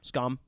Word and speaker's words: Skam: If you want to Google it, the word is Skam, Skam, and not like any of those weird A's with the little dot over them that you get in Norwegian. It's just Skam.